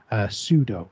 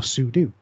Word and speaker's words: sudo: Well, on Linux, the equivalent is this command, sudo or sudo, depending on how you want to pronounce it.